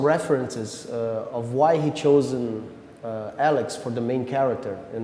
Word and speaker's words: A-Lex: of your new CD Alexa how do i pronounce it Alex will Alex Alex yeah it means unlawful or